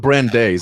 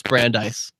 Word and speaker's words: Brandeis: I call it Brandeis. Is that not the way you pronounce it? No, it's Brandeis.